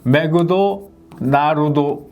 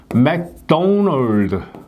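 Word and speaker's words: McDonald's: 우스갯 소리로 많이 얘기하죠 맥도널드 하면은 얘네들은 일본인들은 매그도나르도 이렇게 발음을 합니다 그 이제 우리는 어떻게 하냐면은 맥도날드 이렇게 발음을 니다 원어민들은 어떻게 발음하면 맥도널드 이렇게 발음을 합니다 맥도널드 자 받침 여기 일본인들은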